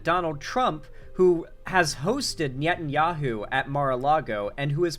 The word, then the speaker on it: Netanyahu: like Palestinian civilians that Netanyahu is the face of that okay and he is personal friends or Netanyahu is how it's pronounced my bad Netanyahu is personal friends